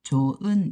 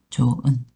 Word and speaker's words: 좋은: 그래서 받침 요거 할 때는 발음할 때는 조 아니고요. 요때는 히어서는 없어져 가지고 조은 이렇게 발음이 됩니다. 조은.